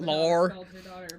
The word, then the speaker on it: Lor: the main character, and it's spelled Lor. So there's a lot of ways you could go with that for 3 letters, but Lore. Yeah, I don't know why we dropped the E off, but it's Lore.